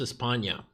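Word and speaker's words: España: haven't watched espana i always forget that it's pronounced espana i always say spain a ton of people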